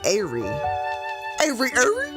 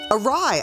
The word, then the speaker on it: awry: Because reading it, I want to say Airy. Awry.